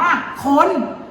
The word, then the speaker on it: คน: น่า กลัว ด้วย เอ๊ะ บน ตึก นี้ มี คำ ว่า อะไร อยู่ เนี่ย แต่ ไม่ มี สระ อา แต่ พี่ ห่าน รู้ มัน อ่าน ว่า คน อูย น่า กลัว จริง